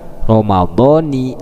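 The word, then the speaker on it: رمضانِ: Berarti dibacanya kasroh, Ramadhani hadis sanati.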